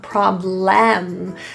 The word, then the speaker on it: problem: In this word problem, the L-E-M is not pronounced as a full lem, problem, but more of an L-M combination, Don't worry about it.